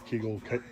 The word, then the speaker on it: Kagel: say his name right Kagel keigle not keegle Kagel um he hit